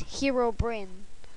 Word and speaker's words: Herobrine: doing a herobrine mod the correct way to say it is herobrine what this mod offers